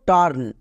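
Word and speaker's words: turn: তাই আকার সাউন্ড করলাম এবার দেখো টার্ন এখানেও ইউ এর পরে আর আছে ইউ এর পরে আর থাকলেই ইউ এর জন্য আকার করব বা ইউ আর এর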